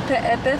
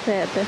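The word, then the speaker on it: Peʻepeʻe: And it's not even Pe'epe, it's like they pronounce every E. Super interesting. Okay, we're checking out Pe'epe Falls.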